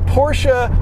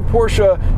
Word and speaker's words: Porsche: And then the Porsche Taycan Turbo, yes, it is pronounced Taycan, not Taken, even though that's how it's spelled.